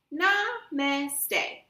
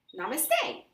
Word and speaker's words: namaste: How to pronounce namaste? Namaste. Namaste.